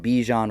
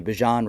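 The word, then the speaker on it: Bijan: Jir Gibbs and Bejian Robinson or excuse me, Bjan Robinson I believe is how you say his name.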